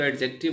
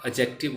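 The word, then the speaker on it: adjective: एडजेक्टिव, मैं इसको एडजेक्टिव बोलता हूँ, हालांकि डी साइलेंट होता है, एडजेक्टिव बोला जाता है, बट शुरू से आदत पड़ी हुई, कोशिश कर रहा हूँ हटा दो एडजेक्टिव।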